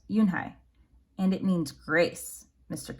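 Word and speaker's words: Unhei: turned to joey she nodded slowly yes it's pronounced yoon hai and it means grace mr kim added yoon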